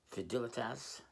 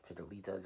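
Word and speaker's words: Fidelitas: First, we have I believe it's pronounced Fidilitas, not Fidilas or anything like that, but Fidilas kind of like Fidelity in Latin.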